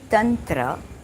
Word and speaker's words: Tantra: Through the ancient knowledge that is Tantra, we realize it's actually Tantra, the correct pronunciation.